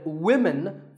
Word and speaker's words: women: But remember that we say woman for one woman and women for the plural.